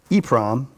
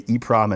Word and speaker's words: EEPROM: So some people say double EEPROM, but I like to say EEPROM and EPROM, just to save time, I guess.